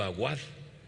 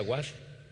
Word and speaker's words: Aguad: una persona con apellido aguad y no se pronuncia What se pronuncia agua cierto así es Y